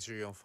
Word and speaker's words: Chow Yun-fat: Yeah, like the Chinese, it sounds closer to the Korean version, but it still sounds really different. If you hear a Chinese person say his name, you wouldn't say, "Oh, that sounds like Ju Yun-bar." Exactly. It's you know. Yeah. They go like Ju Yun-fa or something like that.